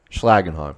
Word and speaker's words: Schlagenheim: Schlagenheim.